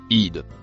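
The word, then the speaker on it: إذ: Le mot en verre se prononce id.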